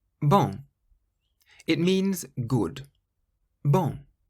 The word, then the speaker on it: bon: Bon. The N on the end is a nasal sound. If you say the word bong and then take the G away, bon, that's how you pronounce bon, meaning good.